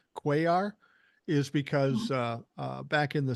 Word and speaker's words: Cuellar: And by the way, the only reason I know how to pronounce that name, Cuellar, is because back in the 70s, I was a baseball fan and there was a Baltimore Oriole named Cuellar.